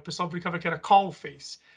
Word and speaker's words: Coface: nos assistindo, a gente que é brasileiro fala Coface, mas qual que é a pronúncia correta? Coface.